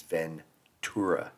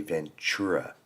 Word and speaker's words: Ventura: like that but that our town name is Ventura with a t you hear people on the news or on TV or whoever say Ventura like CH ven c h Ur a not Ventura it's Ventura and they